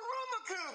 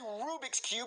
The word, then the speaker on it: Rubik's Cube: Daddy, that's not a Rumacube! That's not what I wanted! Yes, it is, Jeffy. That's a Rubik's Cube. You're just saying it wrong.